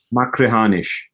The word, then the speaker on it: Machrihanish: I was based, I'm going to try and pronounce this, Ian, you might be better than me, will be, being from Campbelltown. Machrihanish. Machrihanish, yep.